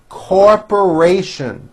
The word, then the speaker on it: corporation: will contribute Our Time Corporation for syllables the third syllable has a very strong R she works for a